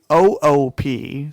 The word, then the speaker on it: Coop: You can follow me on Instagram and Twitter at Seth_Coop, COOP. Some people spell it copper. Coop, like poop, but coop. Yep, exactly. Just replace the P with the C.